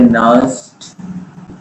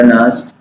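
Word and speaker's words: नर्न्स्ट: Is known as, इसी को हम लोग कहते हैं नर्स्ट, एन का उच्चारण नहीं होता, नर्स्ट इक्वेशन।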